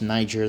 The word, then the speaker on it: niger: And keep in mind, it's pronounced niger. There's not two g's.